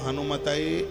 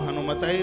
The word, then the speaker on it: हनुमते: बहुत लोग हनुमान जी का मंत्र जपेंगे तो कहेंगे ओम हम हनुमताय नमः, ये बिल्कुल गलत है। इसलिए तो व्याकरण की जानकारी होना जरूरी है। ओम हम हनुमताय नमः नहीं, ओम हम हनुमते नमः।